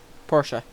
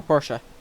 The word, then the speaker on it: Porsche: And then also, I kind of saw the lines of a TVR and a Porsche. And yes, I know that's not how you spell Porsche.